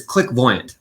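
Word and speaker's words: Clickvoyant: of your company yeah so it's it's click voyant like kind like a CL Clairvoyant season of the future click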